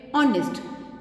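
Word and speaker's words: honest: कैसा चाइल्ड है ऑनेस्ट. देखिए बेटा एच इज साइलेंट और ओ की साउंड आ रही है which is a vowel sound तो what we will use एंड.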